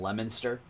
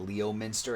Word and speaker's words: Leominster: it's from Leominster I bet most you would have pronounced that Leo Minster it's Leominster for those of you non-new englanders out there Duke I'm kind of